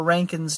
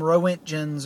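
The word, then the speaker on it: roentgens: 50 million cans so or Rankin's depending on how you pronounce it just don't call them row engines or anything like that there are Rankin's you roll your auditors like you're German but we're not German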